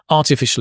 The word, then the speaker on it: artificial: So it's artificial. Notice the sh. Although it looks like a s, you can see here it's a sh sound. And it's a r. Artificial.